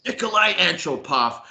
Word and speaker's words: Nikolai Antropov: That's how you pronounce it? Yeah. Yeah, bro. Nikolai Antropov.